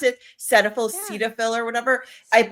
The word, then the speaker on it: Cetaphil: Is that how you pronounce Yes, it? Cetaphil, yeah, Cetaphil, or whatever.